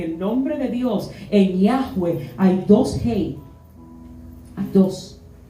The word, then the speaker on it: Yahweh: El hebreo no tiene vocales, solo consonantes. Ahí lo que él estaba diciendo era Yahweh.